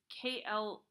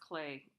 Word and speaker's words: Klee: It's Klee. Do we have another one? Yeah. This is pronounced Clay, Klee. So some of it has some soft areas, um, and some broader areas of color.